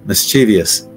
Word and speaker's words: mischievous: would you say this I'll tell you the wrong way to say it I'm guilty of this as well mischievous mischievous and with me pronouncing it that way it would be more like that mischievous but that eye is not there so it's just mischievous but I'm I'm guilty